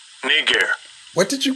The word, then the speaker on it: Niger: if Niger Niger let's hear how it's pronounced Strong's G 35 26 knee gear knee gear what did you call me nah but seriously let's hear that one more time Charles G 35 26 knee gear oh okay so they were they were called